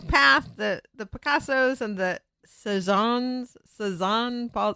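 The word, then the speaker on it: Cézanne: And so he was talking about the Picasso path, the Picassos and the Cezanne, Paul, how do you say it, people?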